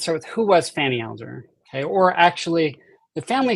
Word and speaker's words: Alger: first off let's start with who was Fanny Alder okay or actually the family says that the name is pronounced AAR so I will try to say it that